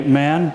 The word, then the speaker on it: Mahan: Captain Alfred Thayer Mahan, or as my friends from World War II who knew USS Mahan correct me, some say Man, take your pick. What's the pronunciation of the current DDG? Mahan, right? We'll use Mahan so you know what we're talking about.